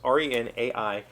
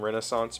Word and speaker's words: Renaissance: the closing years of the 20th century Renaissance r-e-n-a-i-s-s-a-n-c-e so I pronounce it the way that I've learned the word like a Renaissance Fair the pronunciation key emphasizes the Rena The Ren and Renaissance but I've also heard people pronounce it Renaissance